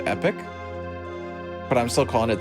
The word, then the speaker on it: Epoch: i found out that it's actually pronounced epic but i'm still calling it the epoch but i had to